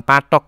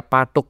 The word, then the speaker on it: patuk: bakpia patuk gitu, bukan patok ya bacanya, bakpia patuk gitu.